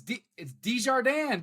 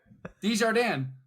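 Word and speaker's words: Desjardins: like he was halfway decent I know it's dijardin baby I wasn't gonna say that I wasn't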